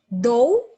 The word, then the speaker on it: though: Though, we do not include silent letters U, G, and H.